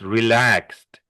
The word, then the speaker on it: relaxed: Oh, and when this also is not relaxed, it's relaxed. Also has a relax, t sound at the end.